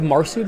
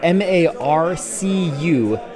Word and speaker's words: Marcu: Marcu, M-A-R-C-U, Marcu. Kind of like Cyprian. It's spelled with a C, but it doesn't make a K sound. It makes an S sound, just like Marcu.